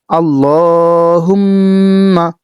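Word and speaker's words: اللهم: বাংলা উচ্চারণ আল্লাহুম্মা মনে রাখবেন আল্লাহ যদি বলেন তাহলে আপনার সহি শুদ্ধ হলো না। এজন্য আপনি আল্লাহ বলবেন। আল্লাহুম্মা একটু টান দিবেন।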